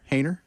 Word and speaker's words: Haener: Haener. Making sure I got that right. Like hater, but with an N where the T is.